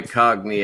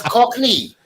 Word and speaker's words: Cockney: very much like my cogny accent it pronounce Cockney Cockney not Cog dud if you're gonna